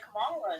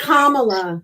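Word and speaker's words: Kamala: He's a stupid liberal like Camala. Yo. It's Kamla.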